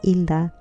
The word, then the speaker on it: Hilda: I go by my middle name, but my first name is Hilda. In Spanish, the H is silent.